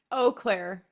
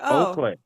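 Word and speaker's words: Eau Claire: Oaklair. So, it's like Oakair.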